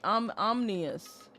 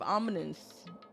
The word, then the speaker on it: ominous: You also said omni omnous instead of ominous.